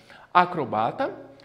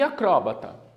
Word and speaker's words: acrobata: aqui umas a inclusão então acrobata e acrobata as duas palavras estão corretas são pronunciadas a azaleia e